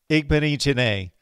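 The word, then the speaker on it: Igbinoghene: Then, bam, Noah Igbenichene. Yes, Igbenichene, I believe is how the young man pronounces his name.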